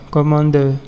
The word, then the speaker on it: Cmder: Il s'agit de Commander, mais ici Commander s'écrit CMDER, comme ça, Commander.